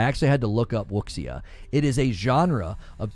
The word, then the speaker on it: wuxia: So we again could be dealing with a game that Wuxia, it's pronounced Wuxia or Wuxia.